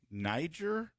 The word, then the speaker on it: Niger: And then this one features a country, I believe it's pronounced Niger.